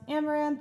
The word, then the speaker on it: Amouranth: hi everyone i'm caitlin my stream name is pronounced amaranth and i am batshit